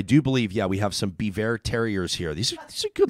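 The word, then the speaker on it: Biewer: They're both Bever, and it's spelled the B-I-E-W-E-R.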